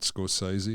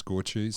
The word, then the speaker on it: Scorsese: i scrape the nut the name is scorches not scorsese it's scorchies i never said scorching i'm just letting you know i'm letting everyone know that's the actual way of pronouncing the name so like okay so 1976.